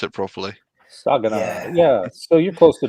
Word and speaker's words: Saginaw: Yeah, You can tell Yog how to pronounce it properly. Saginaw.